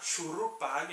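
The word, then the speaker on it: Shuruppak: Shurupag, era assim que pronunciava, uma das cidades antediluvianas, ou seja, uma cidade que existia antes do dilúvio.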